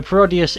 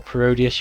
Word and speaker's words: Parodius: screen there you go so parodius if you didn't know or parodius you can also pronounce it is a a